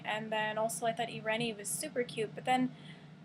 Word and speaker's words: Eirene: we got this name from and it is ireni now some people pronounce it Irene but I heard it on Rome pronounced ireni